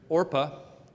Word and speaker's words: Orpah: find out later marries Orpah I keep having to pronounce that very carefully cuz it's so close to Oprah but I have to